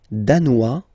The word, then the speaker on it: danois: Le Danemark, danois, danoise. Z, okay, insist on that. Danois, don't pronounce the final S.